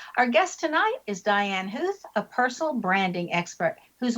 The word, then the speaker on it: Huth: And the last name even though it's pronounced like you're hearing some o's in there aren't any.